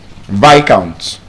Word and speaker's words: viscount: Viscount. So discount and Viscount.